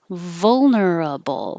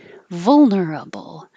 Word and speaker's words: vulnerable: so is this one vulnerable with four syllables is perfect vulnerable but you can make it shorter vulnerable vulnerable both are fine this one looks like